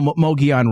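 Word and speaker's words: Mogollon: Uh, you know, Mogi on Rim of sorts. I think it's called Mogi. Am I pronouncing that right?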